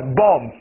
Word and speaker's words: bomb: B-L-O-M-B，炸弹，第二个 B 不发音，一起来 bomb， bomb， B 不发音 bomb，第二个 B 不发音 bomb，这就是炸弹。